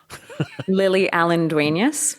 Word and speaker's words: Lily Allen-Duenas: how did how do you say your name lily allendueneus okay for those of you podcasters out there